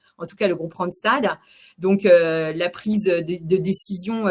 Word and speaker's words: Randstad: Moi je dis c'est pas Randstad. C'est Randstad. Voilà, c'est comme un stade.